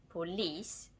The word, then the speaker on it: polis: For instance, in police, the stress falls on the final syllable, police. Lis is pronounced longer and louder, and it's a loan word.